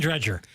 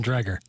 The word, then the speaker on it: Dreger: watch this t t Darren Dreger I don't think that's how you pronounce it Darren drer I think that's how